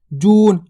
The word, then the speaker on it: जून: उच्चारण हो रहा है इसी प्रकार से शब्द को देखो जून अगर बोलते जु तो छोट ऊ की मात्रा और बोलते अपन जून